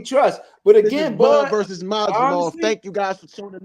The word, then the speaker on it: Madrimov: What's the best pronunciation for this guy's name? Israil Madrimov. Madrimov.